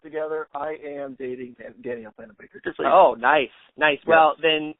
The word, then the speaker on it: Danielle Panabaker: But then they redeemed themselves with introducing the other character, who was played by, you said it, Danielle Panabaker?